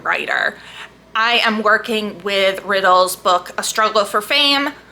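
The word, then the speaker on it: Riddell: riddle just found out it's just pronounced riddle as in the word even though it's not spelled the same way okay whatever anyway the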